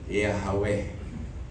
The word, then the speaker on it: Yahweh: Di ba yung YHWH, ibig sabihin ng hininga yun eh. Ang pronunciation ng breath yun eh. Kaya the first that a child, ulitin ko na kanilang minention sa buhay nila ay not by tongue but by breath. Yahweh. Humihinga ka, Yahweh.